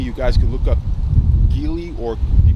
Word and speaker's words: Geely: motorcycle car company you guys can look up gili or you pronounce the chili company from china now these